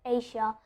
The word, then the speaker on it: Asia: Just see that there's the R sound, the schwa sound at the end of Asia. So I'm adding an R.